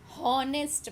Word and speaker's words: honest: starting with h but we do not say honest man at sound her but here H is silent word so we pronounce it honest man